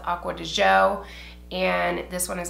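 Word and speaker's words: Acqua di Giò: version of it I always thought it was pronounced aqua geo it's actually pronounced aqua to Joe and this one is aqua de Goya because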